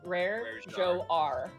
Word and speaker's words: Rajar: pronunciation of his name rare jar rare Joe R that's the the way you say it rare Jacques did